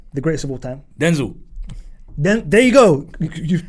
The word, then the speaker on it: Denzel: Denzel. Then there you go. You've pronounced it right.